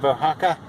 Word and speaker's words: Oaxaca: a little water arrived in the town of ohaka and it's spelled o a x a CA and uh